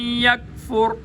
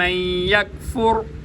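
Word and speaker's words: يكفر: बता चुका हूं फम यकफुर काफ बारीक है ताल्लुक सख्त हिस्से से अदा होगा और यहां पर कलकला नहीं किया जाएगा मोटे काफ पे कलकला होता है बारीक काफ पे कलकला नहीं होता फम यकफुर र मोटा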